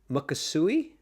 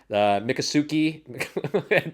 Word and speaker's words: Miccosukee: back to Seminole and Mukasuki. Okay. How do Native American. how do you pronounce that? I I made it sound like a Japanese word. How would you pronounce it? It's Miccosuke. So it's definitely a Native American word.